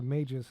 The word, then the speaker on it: Magis: Okay, so Majis is how they're pronouncing it, which is fine. A soft G. Mr. Majis sounds wizardy.